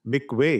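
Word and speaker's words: מקווה: इसको लिखा मिकवा जाता है लेकिन इसको प्रोनाउंस मिकवे किया जाता है।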